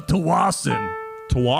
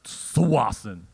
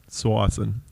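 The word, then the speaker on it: Tsawwassen: um matt where are you from exactly uh tawassen i was born in tawasan 200 million years ago was it called twice at the time well it's correctly pronounced swassen swassen he was born in swaziland 200 years ago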